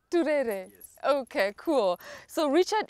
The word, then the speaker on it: Turere: I love pronouncing that name. Say it. There's a way you say it. Richard Turere. Turere.